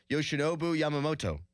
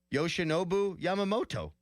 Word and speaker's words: Yoshinobu Yamamoto: Yoshinobu Yamamoto. Mm-hmm. That is correct. Did I not get that right? Not the first time. Yes, I did. Yoshinobu Yamamoto.